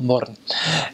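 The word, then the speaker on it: Mörön: You go in the north, they've got a place called Little Switzerland, called Murren, which is spelled moron, but call it Murren.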